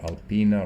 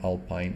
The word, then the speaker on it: Alpine: altin or sometimes or alpina or whatever just ignore it it's actually alpine if you're looking in english i think it is uh pronounced like that but you know in